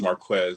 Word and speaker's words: Marquez: of names over the years that we have mispronounced for some time well the name is Marquez by the way I'm sorry I'm sorry yeah